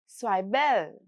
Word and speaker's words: Zwiebel: Now, the pronunciation tips here, let's see how they go. Again, German z in zwiebel again sounds like so.